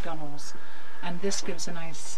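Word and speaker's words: gunwale: under all the gunels gun Wheels is the proper name it's pronounced gunels and this gives a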